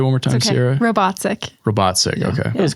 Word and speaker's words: Robatcek: I think I butchered that last syllable though. Yes. I think you did too. Say it one more time, Okay. Sierra. Robatcek.